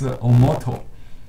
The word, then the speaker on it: omoto: oh the japanese name for this plant is omoto o-m-o-t-o as you see here the chinese names